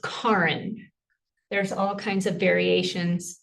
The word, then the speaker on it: Karin: I can't actually pronounce the official way because I don't have a Scandinavian accent. Thank The way God. I remind people to think about car in the garage.